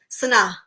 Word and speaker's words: Sanaa: Sanaa.